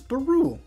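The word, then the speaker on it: Barewl: Bar in my party why you keep saying like it's a French how do you say it bar it's baru it's b a r e w l is he German now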